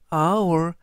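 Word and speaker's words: hour: 하는데요 예시를 보시면 언 아워 이때 hoor our 발음이 h가 묵음이기 때문에 알파벳 o부터 발음이 됩니다 그래서 첫 발음이 모음인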